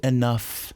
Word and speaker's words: enough: I haven't said enough. Várias vezes quando você acaba com gh em inglês, a pronúncia é de f. F mesmo, não dessa pronúncia entre os dentes, mas de f mesmo. Enough, enough, enough.